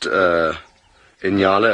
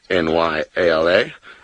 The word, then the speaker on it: nyala: Now, I pronounced Inyala, as a lot of Americans may pronounce it, the way that it's kind of spelt, N-Y-A-L-A, but the official pronunciation is an Inyala, not a Nyala.